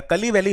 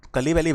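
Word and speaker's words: Kazhuveli: these will be opened in tamil nadu the kali valley wetland written as kazoo valley but pronounced as kali valley wetland in tamil nadu it has been declared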